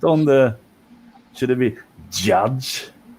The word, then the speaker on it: Judge: Yudge? Is that how you say it, Duke? What? Yudge? Mike Yudge? Yeah, I can't pronounce shit. I'm from Sweden. Is it pronounced is it Mike Judge? Judge. Yeah. Judge.